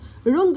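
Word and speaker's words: wrong: رونج، خطأ. ورونج، بطريقة خاطئة. والدبليو دي سايلنت وما بنطقهاش.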